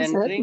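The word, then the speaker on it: mesenteric: जी सर, ये सब आप एक तो बार है बोले मिसेंट्रिक दवाई।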